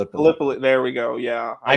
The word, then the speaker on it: Gallipoli: Galipoly. There we go. Yeah. I pronounced it like Gip Pali. And my wife's like, "You mean Galipoly?"